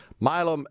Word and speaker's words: Milam: Is it Milam or Milam? Just looking at the spelling Milam? here. Yes, it's Say it again. Milam. It's Milam.